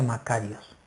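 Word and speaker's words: μακάριος: básicamente el término proviene del griego que se pronuncia makarios y de un término que se usaba en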